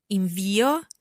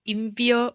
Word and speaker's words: invio: So you need to know whether you say invio or invio. The dictionary can help you in this case, I guess. There's always a sort of comma, an apostrophe before the stressed syllable in the dictionary.